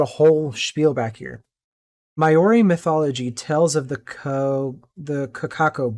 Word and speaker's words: Māori: Maori mythology tells of the Kakako board.